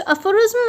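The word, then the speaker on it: aphorism: सो इसका प्रोनाउंसिएशन है अफोरिज्म।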